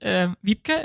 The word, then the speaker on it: Wiebke: Wiebke, it's a very northern German name, so no worries if you don't pronounce it.